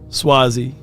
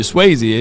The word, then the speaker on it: Swazi: But I want to win now, Swazi. I've been calling you Swayze. It's Swazi. Okay.